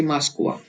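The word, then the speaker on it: Москва: अब ये भी एक्सेप्शनल केस है जहां पे जो ओ है वो आ की तरह बोलता है। माँ स क वा, मास्कवा। जल्दी से पढ़िए मास्कवा, मास्कवा। जो ये इसको ऐसे पढ़ा जाता है मास्कवा।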